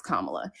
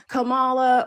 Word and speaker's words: Kamala: Soyeski, if we can pronounce Tchaikovski, we can pronounce Kamla. It really gets to a point where um people do it on purpose and like oh well it's not a big deal or Camala or what like it wears on people and